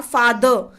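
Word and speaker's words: father: तो फा द, फिर आर, आर का सॉरी फादर जब बोलते हैं ना फादर, तो इसमें अंत में आर का प्रोनाउंसिएशन नहीं करते। जब भी किसी भी वर्ड में अंत में आर आता है तो उसका प्रोनाउंसिएशन नहीं करते, फादर पे ही छोड़ देते हैं।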